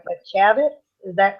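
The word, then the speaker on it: Chaffetz: at one point and I'm not sure I'm pronouncing his name right but chavit is that correct that's right the chairman chavit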